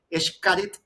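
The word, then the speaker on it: Xcaret: Ya la la la X la X en muchos dialectos, idiomas funciona como SH, incluido el gallego. Yo tuve la oportunidad de estudiar en Galicia y los gallegos utilizan la X como SH Shakira, así se pronuncia la la X. Entonces, Eshit es el parque de fue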